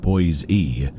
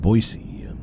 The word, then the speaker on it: Boise: He called it Boise E and not Boisey.